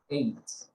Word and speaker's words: ate: Here, the base form is eat, but the past form is ate. Suena parecido como el número 8, like 6, 7, 8.